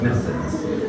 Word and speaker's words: Mercedesz: Оказывается, так произносить «Мерседес».